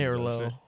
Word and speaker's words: Merlot: Then she doesn't pronounce the T. does she? Merlot.